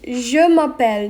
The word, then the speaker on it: je m'appelle: response to it and how you say it is je m'appelle not jay mappel tori if someone says